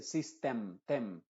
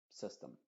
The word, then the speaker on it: system: System Problem item an no se dice sistem Problem br sino Problem Problem System System Aunque Quizá en el